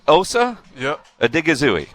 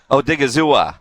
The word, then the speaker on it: Osa Odighizuwa: it well exactly right osa adigazoo oh dig a zoo but see i'm trying